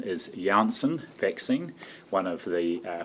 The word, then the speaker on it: Janssen: meantime likewise the and i understand the correct pronunciation is janssen vaccine one of the uh for we have